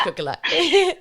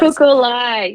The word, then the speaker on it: Kukulai: I'm going to let you pronounce it just in case I butcher Kukulai. I say it's Kukulai. Yes. Kukulai.